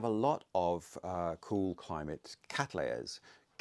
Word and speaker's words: Cattleya: And thank you to the lady who told me off about my pronunciation of Cattleya, as she pointed out, named after William Catley.